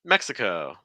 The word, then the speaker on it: Mexico: she's still with us Mexico Mexico okay so stress that first syllable I was just working